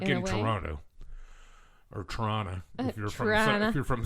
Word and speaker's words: Toronto: not from here and they go Toronto like yeah dude that's not how you say it no it's Toronto Toronto right it's like when people